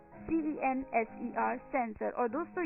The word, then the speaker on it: censer: हम कह देते हैं सेंसर, CENSER, सेंसर. और दोस्तों, ये जो वर्ड है, ये 3 वर्ड हैं जो एक जैसे सुनाई देते हैं.